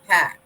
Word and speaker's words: Pax: Romans referred to her as Pax, P-A-X, Pax. How do you say that? Oh, Pax?